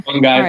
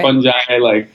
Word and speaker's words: fungi: Everyone has different ways of saying it. All so right. I say fungi, fungi, Well, I'm a newbie, so I want to get it right.